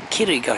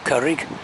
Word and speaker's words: Curig: village of capital killik kirika should maybe pronounce not curryg and there's the uh